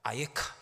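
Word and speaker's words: אַיֶּכָּה: 있느냐 네가 어디 있느냐 히브리어로는 한 단어입니다 아에카 이렇게 발음합니다 아에카 네가 어디 있느냐 네가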